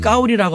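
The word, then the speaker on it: 高丽: 발음을 까오리라고 하는데 나는 까오리 고려라는 이름을 갖고 있어.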